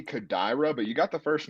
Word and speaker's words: Kodaira: the win i'm going satoshi kodera uh do you know if i'm mispronouncing that by the way i think it might be kodaira but you got the